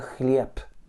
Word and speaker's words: хлеб: Exemple, dans le mot chlieb, le B est une voyelle voisée, puisque lorsque tu fais un B, tes cordes vocales vibrent. Comme elle se retrouve en finale, elle va se prononcer non voisée, et donc ça va te donner la lettre P.